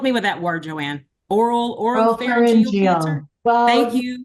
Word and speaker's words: oropharyngeal: Oropharyngeal cancer. Thank Well, you. put the emphasis on either syllable. It doesn't matter.